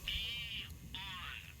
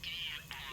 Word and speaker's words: Aeon: With the state of the world today, the Aeon program is a E-on. I'm sorry? It's pronounced E-on.